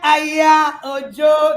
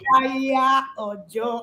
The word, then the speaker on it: Aya Ojo: You love that, Aya Ojo. That's how she pronounces her name. That's why that will come. Aya Ojo.